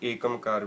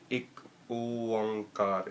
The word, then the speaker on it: एक ओंकार: इस बाणी दे विच जदों आपां जो एक ओंकार, बहुत सारे लोग इसनूं एकमकार भी कह दिंदे ने। एक ओंकार इसका सही उच्चारण है, एक ओंकार। एकमकार कहना इसनूं कोई ज़्यादा ठीक नहीं है।